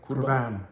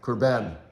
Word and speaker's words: Kurban: Kurban. Kurban.